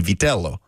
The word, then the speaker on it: Vitello: Again, we got to ask Chris, because I thought Tony Vitello's name, if properly pronounced in Italian, would be Vitello. But for him, it's Vitello.